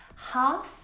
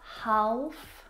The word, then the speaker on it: half: Words like salmon, not salmon, half, not half, would talk, walk. All of these words have a silent L in them, which makes them a little bit tricky to pronounce correctly.